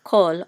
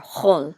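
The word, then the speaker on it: כל: In ancient Hebrew, this kamatz right here would be sounded as a o, like a o sound, short o.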